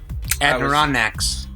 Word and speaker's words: Adirondacks: Adirondacks in northern of State New York and Adirondacks and he went to the heath he went